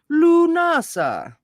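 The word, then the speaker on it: Lughnasadh: Pronouncing it Lunasa. Lunasa. Lu- Lunasa.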